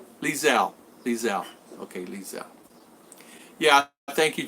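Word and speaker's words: Liezl: Lizel.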